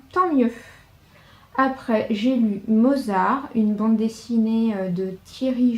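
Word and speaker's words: Mausart: Et là, Mozart, qui en fait s'écrit M-A-U-S-A-R-T.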